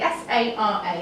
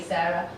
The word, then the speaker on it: Sara: It's pronounced how it's spelled, so please say it that way. Unless you're American, in which case it's fine. They say the name Sara, but spell it like mine. But otherwise, if I've told you it's Sara, please don't call me Sarah, or even worse, Zara.